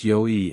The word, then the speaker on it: Yuao: First name pronounced Yoi and the second name is pronounced, but just call me Yua.